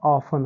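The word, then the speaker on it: often: तो एल आई एस ई N listen हो जाएगा, एम ए सी H match हो जाएगा, सी ए सी एच कैच हो जाएगा, ओ एफ ई एन ऑफन हो जाएगा।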